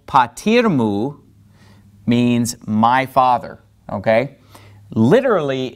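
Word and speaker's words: πατήρ μου: So we put our accent on patir, and we basically pronounce this as if it were one word. So to say, and my father, we say, ke o patirmu, patirmu, okay?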